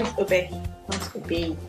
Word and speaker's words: Obehi: So, Obehi, when did you start makeup? Yeah, this is my friend and she doesn't know my name. My name is Obehi. What's Obehi? Obehi.